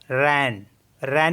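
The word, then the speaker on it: reine: मीस होता है 13 आर ई आई एन रन रन मीस होता है queen and एस ई आई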